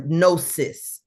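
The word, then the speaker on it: gnosis: It is an embodnosticism or nosis spelled with a G.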